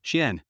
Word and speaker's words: Chian: Chian suppressed her anger and said with a sweet smile, "My name is Chian, and it is pronounced with the fourth tone," Shien.